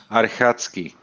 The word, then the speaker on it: Archacki: By the way, one question with your surname, because it sounds like it comes from Poland, and it would be in Poland. The pronunciation would be Archacki.